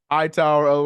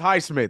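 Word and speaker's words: Highsmith: Show Mr high tower what is it height Smith let me let me stop getting this guy this poor guy's name wrong yeah it's high Smith it's high Smith let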